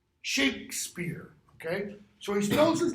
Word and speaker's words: Shakespeare: In this one, I don't know if you can see it, there's no E after the K. Shakespeare. The E after it is what gives rise to the pronunciation Shakespeare.